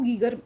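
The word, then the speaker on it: Geiger: है ठीक है तो गगर मूलर काउंटर जो है या फिर गायर मूलर काउंटर जो है अ यहां पे इंग्लिश की स्पेलिंग और हिंदी दोनों में लिखा हुआ है ये रेडियो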